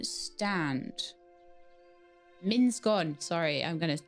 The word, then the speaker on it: Minsgon: And there's a miniscorn stand. Minskon, sorry.